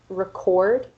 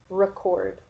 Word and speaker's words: record: So here for an example, we have the word record, which is a verb, and record, which is the noun.